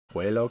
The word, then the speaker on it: Pueblo: Pueblo, Colorado. Yeah. Some people call it Pueblo or Pueblo. How would you say it? How do you say it? Pueblo.